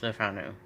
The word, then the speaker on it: Le Fanu: So, Carmilla, by Joseph Sheridan Le Fanu, and I did find out it is Le Fanu, is how his name was pronounced, or I guess you